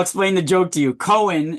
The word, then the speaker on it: Cohen: Cohen is a very, or it's pronounced like cone, right?